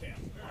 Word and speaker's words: Kale: Pronouncing as Kale Lee. It's just like no E at the end. Kale.